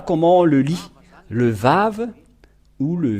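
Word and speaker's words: ו: nous voyons cela euh nous voyons bien que c'est vave la vraie prononciation mais pas waouou c'est bien un vave parce que ils ont il y a ceux qui sont ont créé le waouh va W c'est un peu étonnant car même si c'est waa ça se prononce vave ou que vous soyez c'est toujours le vave et nous allons revoir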